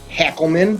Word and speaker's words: Hackleman: We have a fantastic guest today, John Hackleman. Am I pronouncing that right, John?